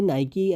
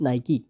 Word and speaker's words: Nike: lot of people say Nike as a Nike but it's actually pronounced Nike with an extra e sound at the end now you know why